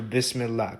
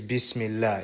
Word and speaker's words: bismillah: If it was going to be how it should be in Arabic, then it would be b e s as opposed to b i s.